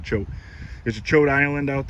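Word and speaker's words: Choate: It's spelled C-H-O-A-T-E, so I would say Coate, but they call it chote.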